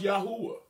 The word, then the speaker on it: Yahweh: Yahweh. Sometimes pronounced Yahuwah.